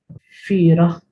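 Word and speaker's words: fiergħa: Firach, firach is pronounced with h.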